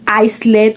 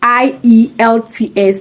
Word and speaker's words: IELTS: it's called eyes as I got some people calling it Iceland or Eastland please it's I it's i e l t s the international English language testing system please get that correction okay and pronounce it